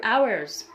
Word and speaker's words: hours: بعد كده سألها عن مواعيد العمل فقال لها What are your hours? What are your hours? Hours هنا أولها letter H، والH هنا جاية silent ما بتتنطقش.